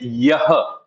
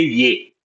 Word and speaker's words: यह: And then you said yah. Okay, we don't pronounce the her, we only say ye.